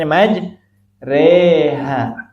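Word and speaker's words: مجراها: Cuma satu aja Bu ya, di riwayat Hafs an Asim cuma satu majreha. Itu dibacanya majreha.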